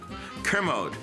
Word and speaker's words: Kermode: How do you pronounce his last name? Kermode.